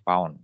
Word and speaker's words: lb: Pound simbolnya LB ya, tapi kalau bacanya nanti pound ya.